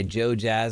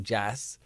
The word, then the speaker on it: JoeJas: I believe or just look up Joe Jazz pronounced Jazz not Jess Joe Jess and support him